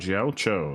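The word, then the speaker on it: Jiaoqiu: Jiao Cho, that's how you pronounce his name.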